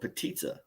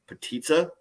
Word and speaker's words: potica: from northern Minnesota we have this thing called petitsa if you need to spell it it's potica p-o-t-i-c-a it is a rolled